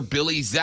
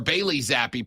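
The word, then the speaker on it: Bailey Zappe: not get anything out of Matt Jones or Billy Z or bayy zappy pardon me in the 2023 campaign don't get Bailey's name wrong my bad Bailey cuz he he's about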